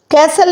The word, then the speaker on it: castle: "castle" में T silent है।